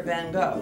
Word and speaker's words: Van Gogh: You've heard of the painter Van Gogh, right?